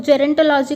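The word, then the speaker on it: gerontology: सो जेरेनेटोलॉजी का एक बार प्रोनाउंसिएशन और अच्छे से देख लेते हैं। रॉन, RUHN रॉन, टॉ, TAW टॉ, लॉ और जी।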